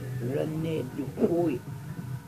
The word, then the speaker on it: Rene Dupuis: And if you guess Rene Dupuis, you have to say it like this. Rene Dupuis.